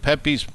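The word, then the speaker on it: Pepé: warehouse to know this, it's spelled P-E-P-E with the apostrophe over the last E, because it's like Pepe, like he's Hispanic.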